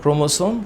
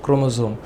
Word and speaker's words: ক্রোমোসোম: তোমরা এটাকে উচ্চারণ করতে পারো এরকম যে সোমা, এটা সোমা হইতে পারে, আবার জোমাও হইতে পারে। তুমি উচ্চারণ সোমা জোমা দুইটাই করতে পারো, ক্রোমোসোম ক্রোমোজোম, no problem at অল, no problem at অল।